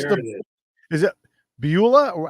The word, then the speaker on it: Beulah: Is it Beulah, or how do you say Beulah?